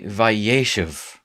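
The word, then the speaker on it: וַיֵּשֶׁב: going to show up on the first syllable so instead of yea shave when you want to tell the story he dwelled right you say vaishev and it might do you well to actually pronounce out loud and get the accent thing right it helps so you'll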